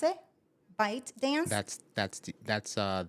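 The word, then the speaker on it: ByteDance: yeah so but it's a bite dancer you pronounce it yeah okay so bite dance yeah bite dance the collaboration with Tick Tock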